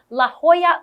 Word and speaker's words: La Jolla: do that again okay this is how you pronounce it this Beach Community has a popular swimming spot that is called La Jolla Cove wow it's the best I can only